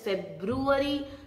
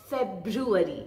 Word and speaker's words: February: what is it february feb people call it as february february but it is february understood i repeat february